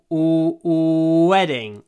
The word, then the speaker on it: wedding: my wedding wedding SPID pronunciation wedding w w try to hold the W weding you can already open your mouth but but then you close your lips in front of your teeth look my mouth